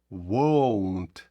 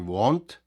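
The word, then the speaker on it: won't: використовується will або won зверніть на це увагу на вимову won ні в якому разі Ні want want - це хотіти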